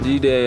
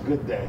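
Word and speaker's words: G'day: konichiwa japan mabuhay philippines d-day australian no it's a good day that's how they say it but that's how they spell it right there though yeah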